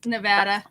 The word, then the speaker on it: Nevada: nothing to me yet yeah thank you it's nevada nevada nevada nevada you you you say tomorrow